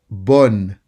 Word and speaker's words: bonne: Bonne. Bonne. Focus on the sound O. Bonne. Bonne. Don't make it too nasal.